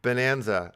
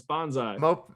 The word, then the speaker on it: Bonsai: Moped Bonanza, I did it. I said it right. Oh man, I was gonna ask you to say that. It's bonsai. Bonsai.